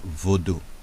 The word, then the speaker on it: Vodun: So Vodun, meaning spirit in the Fan and Ewe languages, pronounced voodoo. Fondue. with a nasal high tone U, also spelled Vadan, Vadan, Vadu, Vadu, Vudu, etc.